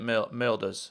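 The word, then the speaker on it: Mölders: Sasha Milders, I think that's how you say it, Milders. It's like Ozil, right?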